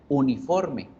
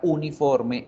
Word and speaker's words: uniform: Por lo tanto, la pronunciación de esta palabra no comienza por sonido vocálico, a pesar de que yo veo la vocal allí. Empieza por sonido consonántico.